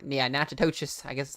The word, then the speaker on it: Natchitoches: Manny and Natchitoches, or not, yeah, Natchitoches. I guess is how you pronounce that.